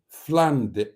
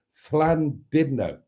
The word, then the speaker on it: Llandudno: not fland no it's fland didno that is the correct pronunciation whether you like it or not burned that is the correct pronunciation if you are Welsh which you aren't yes